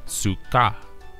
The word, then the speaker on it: sukkah: This Hebrew word can also be spelled out as such, which can be written out as sukkah, and is phonetically pronounced as sukkah.